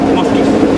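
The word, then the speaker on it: Москвич: Este es otro modelo de carro ruso, se llama Moscovis. ¡Ay, qué padre! En ruso tiene otra pronunciación, Moskis.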